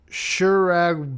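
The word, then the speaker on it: Kjerag: this and then forgot shurg Bolton it's k j e r a g so the correct pronunciation would be like a like a soft k sound um okay if you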